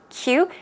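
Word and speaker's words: queue: I did mention that it is pronounced exactly as you would pronounce the letter Q okay cute Q it means to line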